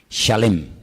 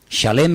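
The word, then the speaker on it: שלם: esa palabra no es se escribe Exactamente igual que la palabra shalom con las mismas letras Exactamente igual pero se pronuncia diferente shalem shalem es completo shalom es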